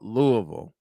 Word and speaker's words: Louisville: 86 the Louisville Cardinals who the hell thought Louisville yes I'm saying it right Louisville would get